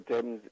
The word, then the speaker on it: Thames: in england the river then about the river thames in in in england when when using that